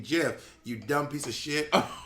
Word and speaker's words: GIF: Plus, the word is literally hard G. Graphic. Thank you. Okay, in graphic it's G, but when you spell it, for example, in giraffe, it's J. So just because it stands for G in graphic doesn't mean it stands for G in GIF.